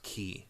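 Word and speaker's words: χ: I think that's actually supposed to be pronounced Kingdom Hearts Key. Oh, really? The X is key? Because it's CHI. Is the letter, the Greek letter is Chi, but they're saying it key because of Keyblade.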